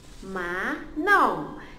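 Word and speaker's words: manom: So in Kadaz and Dusun is Ma No.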